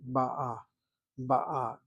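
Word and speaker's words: בא: Masculine singular and feminine singular ba. You hit the last syllable. Ba is masculine, present tense singular.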